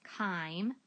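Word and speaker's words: chyme: to empty a liquid also known as time I know it's spelled with a CH but it's kind into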